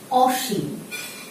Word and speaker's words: অসীম: করি অসীম শিক্ষার্থী বন্ধুরা আমরা জানি আদ্য অয়ের পরে যদি রসইকার দীর্ঘইকার থাকে তাহলে উচ্চারণটি ও এর মত হয় কিন্তু এই ক্ষেত্রে আমরা কিন্তু শব্দটি লিখেছি অ কারণটি হচ্ছে যদি তোমার এই ক্ষেত্রে নেতিবাচক অর্থ প্রকাশ করে অর্থাৎ অসীম শব্দের অর্থ